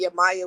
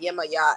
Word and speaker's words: Yemaya: So we just started going through Google, and I typed in African goddesses one day, and Yamaya was the first, or it's pronounced Yemaya actually, was the first goddess that popped up.